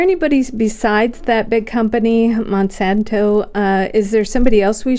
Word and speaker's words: Monsanto: Wait, how do you say that? Monsanto.